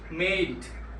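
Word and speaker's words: made: উচ্চারণ এর মত হবে ভার্বের কষেত্রে ডি এর উচ্চারণ ড এর মত হবে। যেমন মেড এখানে দুইটা ভাওলের মাঝখানে থাকলেও ড এর মত উচ্চারিত হবে।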